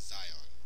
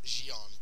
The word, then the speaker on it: Xion: It's not pronounced as Zion. I thought it was Zion for a while. It is Xion.